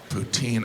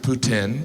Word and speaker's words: poutine: smoothie it was delicious poutine I know some of you pronounce it Putin but you're still saying poo I love poutine and